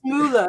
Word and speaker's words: Mueller: Please welcome my dear friends, Hannes Mueller. Hey! did I say it right? It's Mueller, isn't it?